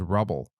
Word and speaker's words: Rubble: But my favorite dog from Paw Patrol was Rebel, and I just learned that his name is Rubble. But my son pronounced it like Rebel, and I just thought that was his name.